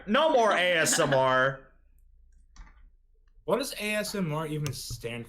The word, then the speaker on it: ASMR: response is violent yeah whenever I first saw ASMR I didn't know you were supposed to pronounce the letters individually so I always thought it was asthma I remember that it